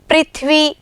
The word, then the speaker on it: पृथ्वी: अब इसका स्वर कैसा होगा, री होगा, ना कि र। ठीक है, इसका उच्चारण हम कैसे करेंगे, कृषि, पृथ्वी, इस तरह से।